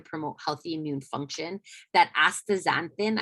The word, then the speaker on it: astaxanthin: That astaxanthin, I always worry I say that wrong, that's a super powerful antioxidant, carotenoid. I said it right the first time.